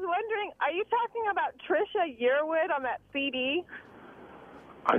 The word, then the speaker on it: Trisha: It looked like Trish is Ha-Ra. And it's Trisha.